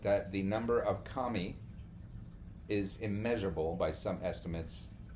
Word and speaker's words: kami: when we say kami, it's spelled Kami, not Commie like communists and communists.